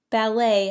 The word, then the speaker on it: ballet: Ballet has a silent T.